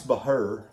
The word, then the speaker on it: Bahr: when i'm with you so anyway uh bryce bahr the who her is how you say his